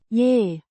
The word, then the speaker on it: îi: Pronounced roughly as E. with a short I. sound.